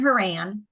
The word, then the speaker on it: Horan: with Horan um am I pronouncing your last name correctly horen yeah heran I always say heran from Japan even though I'm not